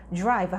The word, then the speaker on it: drive: 그리고 D하고 R이 만나면 약간 drive보다는 빨리 발음하다 보면 drive. DR로 시작하는 단어는 뭔가 drive보다는 약간 지읒처럼 소리가 들려요. 드랑 루가 만나서 drive 이렇게 발음합니다. 무슨 뜻일까요? drive 하면 운전하다 이런 뜻이에요.